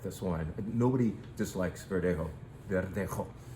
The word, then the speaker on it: Verdejo: Verdejo, perhaps it's more properly pronounced, is grown near Madrid.